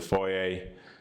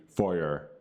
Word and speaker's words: foyer: The foyer, or as my fellow Americans say, and some British to a certain degree, and Irish, and any English-speaking person to a certain degree, foyer. Yeah, again, the R is silent, the French and English.